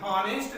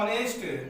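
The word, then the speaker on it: honest: एन ऑनेस्ट मैन, तो अब यहाँ पे ये जो एच है ये साइलेंट हो जाता है। ऑनेस्ट को हम लोग ऑनेस्ट लिखते हैं, हॉनेस्ट नहीं बोलते हैं इसको, ठीक है। हॉनेस्ट न बोलने की वजह से ही हम देखते हैं कि यहाँ पे इसको हम लोग प्रोनाउंसिएट करते हैं ऑनेस्ट।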